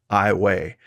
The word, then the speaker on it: Iowa: wrong the town of ioa is actually pronounced with the long a sound at the end i way opposed to the pronunciation